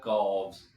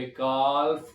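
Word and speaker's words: calf: Actually viewers, आपको पता है कि एफ से पहले एल जो होता है वो लेटर खामोश होता है, साइलेंट होता है। इसकी वजह से मैं यहाँ पे काल्फ को काफ पढ़ रहा हूं।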